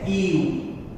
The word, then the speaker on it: ewe: EWE इसको हम पढ़ते हैं EU, और EU यह हिंदी का कंसोनेंट होता है, इसलिए इसके पहले हमें अ का प्रयोग करना होता है।